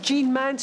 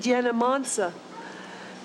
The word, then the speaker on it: Jean Mance: I mean, instead of Jean Mance, she said Jena Mansa, which is... Phonetically, that's what it is in Polish.